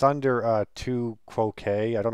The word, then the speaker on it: tu quoque: It's a tu quoque. They say that's how it's pronounced.